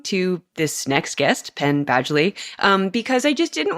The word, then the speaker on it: Badgley: did have to Google the pronunciation of Badgley and it is in fact Badgley like a badge boom he also plays